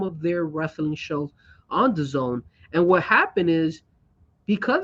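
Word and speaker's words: DAZN: keep in mind uh d-a-z-n how do you say that zone The Zone sorry this one oh my God Jesus is terrible all right the zone so the zone is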